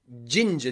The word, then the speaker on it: ginger: love ginger tea so you might notice that in the word ginger you have g and i and g and e and the pronunciations follow the rules in this lesson g and i jin jin and then g e r j ginger ginger okay in british my british pronunciation we pronounce this ginger gin ginger okay do you like ginger